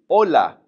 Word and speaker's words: hola: First of all, you know the one we learned a while ago when we were talking about pronunciation with the h, saying hello to somebody is simply hola.